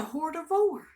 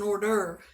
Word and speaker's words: hors d'oeuvre: i'm confused about is what's a hoard of war he said honey that's an hors d'oeuvre oh it's so funny anyway honest mistake it does not sound anything like it's like it's spelled so but we're doing appetizers